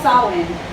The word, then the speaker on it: Samhain: It's called Samhain, their festival Is that how you Samhain.